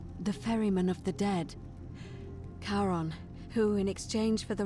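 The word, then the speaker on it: Charon: It's just as you described it, only your pronunciation is a little off. The name you heard wasn't Karen. It was C H A R O N. As in Karon, the fairerryyman of the dead. Karon, who in exchange for the right coin helps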